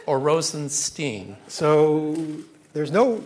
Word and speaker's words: Rosenstein: is it Rosenstein or Rosenstein so there's no right answer to that question my family my father pronounces it Stine that's how I pronounce it but I actually have relatives who pronounced it Steen so I'll answer it